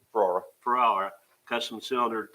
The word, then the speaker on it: Ferrara: radios for the 2025, is it Fiera or how you pronounce it? Ferrara.